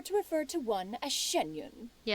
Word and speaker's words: Xianyun: From this point on, when in public occasions, be sure to refer to one as Shenyun. Yeah, Shenyun.